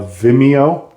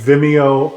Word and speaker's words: Vimeo: rewatch you have to sign up for a Vimeo hey I got I could say it right yay Randy said it right this time uh a Vimeo uh account which is totally free so don't